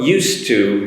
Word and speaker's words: used to: um and i want to focus on the pronunciation as well so used to be used to the s sound used to